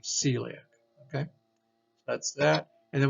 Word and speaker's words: celiac: be a noun now this right here is a um not part following the rule that's not heliac but the true word or the pronunciation of this would be celiac so again some words